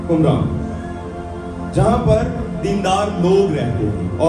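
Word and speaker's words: قمران: Sorry मैंने pronounce ठीक किया, कुमरान, जहां पर दीनदार लोग रहते थे।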